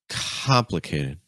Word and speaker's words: complicated: The stress is on com. That first syllable is really high. So that means all those other syllables, we need to go even lower. Complicated, complicated, complicated. You want to be careful with this one because what a lot of students want to do is they want to say complicated, complicated, but it's not complicated. It's complicated. We're stressing the first syllable.